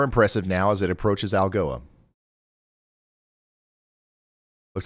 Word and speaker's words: Algoa: Yes, that's pronounced Algoa.